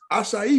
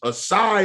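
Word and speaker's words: açaí: on top of that you just taught me how to say acai because i swore up and down it was a sigh or kai or that's how you pronounce it yo i couldn't pronounce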